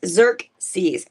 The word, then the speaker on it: Xerxes: I think it's Xerxes. It is Xerxes.